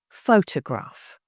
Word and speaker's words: photograph: Photograph, 3 syllables. So we can show it like this. Photograph, stress here.